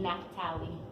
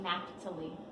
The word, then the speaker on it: Naphtali: Now I don't know how to pronounce this one, so anybody jump in and tell me. The Napht. Naphtali.